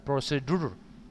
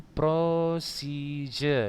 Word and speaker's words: procedure: Membacanya mesti ingat kan, bukan prosedur, tapi procedure. Ini sering kali salah ya.